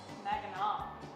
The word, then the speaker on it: Mackinac: Mackinac. Mackinac. That's how it's pronounced.